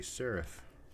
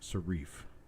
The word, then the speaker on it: serif: no boys and girls it is not a serif it is a Seraph proper pronunciation in the English language is definitely not sarif let's see next oh